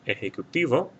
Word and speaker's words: ejecutivo: Ejecutivo will not have a written accent mark because the stress is on this syllable right here, the TI, and it ends in a vowel N or S.